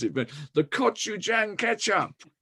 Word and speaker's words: gochujang: and kimchi hash with the i'll try and pronounce it the kochu-jang ketchup the gochujang ketchup indeed i've actually got this uh sausage